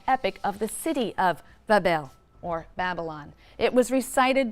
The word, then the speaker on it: Babylon: magnificent shrine or temple in Babylon, pronounced Bab-El, which simply means gateway of the god, the gate of the god.